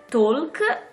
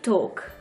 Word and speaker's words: talk: quindi parlare e camminare non è walk ma work la l è muta e non è talk bensì top quindi work e top